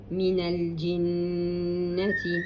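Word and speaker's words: مِنَ الْجِنَّةِ: Noon with a shadda and a fatha, minal jinnati.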